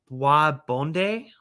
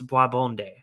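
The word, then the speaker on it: bois bandé: to butcher the pronunciation, Boisbonde. Boisbonde. It's spelled Boisbande. And yes, I did watch up a pronunciation video on how to pronounce that, and I believe it's Boisbonde.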